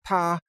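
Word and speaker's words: 他: They use an article or a pronoun that's pronounced ta, and you say, ta kai ce means he's driving his car, or she is driving her car.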